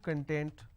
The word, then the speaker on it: content: have the word content I break it into two syllables when I pronounce this as con tent it means ingredient or index when I pronounce this as Kun that means happiness or being happiness or being self satisfied so these are the